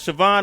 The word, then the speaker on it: Siobhan: Is it Siobhan? Am I saying that correctly? Yes, you're saying it correctly.